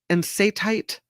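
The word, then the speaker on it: enstatite: That these ensatite chondrites, ensatite is how you say it, chondrites, contain different minerals.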